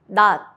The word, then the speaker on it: 낮: 디귿, 티읕, 시옷, 지읒, 치읓 becomes a soft T. Example, 낮, daytime, 옷, clothes. Don't release the sound, just stop it with your tongue.